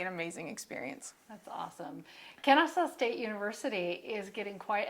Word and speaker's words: Kennesaw: I remember going to nationals sometimes and having officials come up to me and they'd be like, Kennesaw? And I was like, it's Kennesaw.